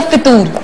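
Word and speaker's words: फ़ुतूर: सर, इसकी correct pronunciation क्या है, फतूर या फितूर? फतूर फे के ऊपर पेश है, ये बड़ी आम बात है, फे के ऊपर पेश है फतूर, क्योंकि मैं भी फतूर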